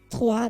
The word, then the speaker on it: trois: which is not how you No, pronounce it's not it. Troy's. Yeah, like I said, it's Yeah. French. Yeah. Trois de. Yeah. That's why I'm saying trois de.